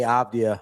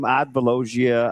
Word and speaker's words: Avdija: So, I've been calling him Avdija Avdija for like 2 years and every time he says he gives me the correct correct pronunciation as if As if you don't know it's Avdija.